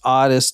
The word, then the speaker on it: Ottis: Yeah, it is pronounced Ottis Toole from what the book that I read.